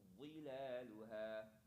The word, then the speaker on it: ظلالها: ودانية عليهم ظلالها. ودانية عليهم ظلالها Well, fill your cheeks with air. Let your tongue come to your teeth and push with the air. Let the air build up inside your cheeks.